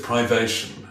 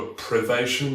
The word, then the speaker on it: privation: Except privation is a really annoying word because it's got like two emphasized syllables right next to each other, and I wish it were privation, but if I just go around saying privation, then people will just think I don't know the word privation.